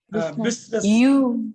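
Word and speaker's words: business: இதுல தான் இயங்குது ஐஸ் பிசினஸ் பிசினஸ் படிக்கணும் ஐ இருக்கிறதாகவே காட்டிக்க கூடாது பிசினஸ் பிசினஸ்ல பிசினஸ் பிசினஸ்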